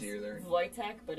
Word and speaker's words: Wojtek: Wojtek, but it's Wojtek. spelled with a W.